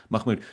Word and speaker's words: Mahmoud: How do you say it, Mahmoud or Mah? Yeah, Mahmoud.